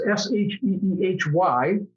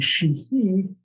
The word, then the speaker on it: Sheehy: And when your name is Sheehy, it can be Sheehy or Sheehy. The Irish pronunciation would be Sheehy.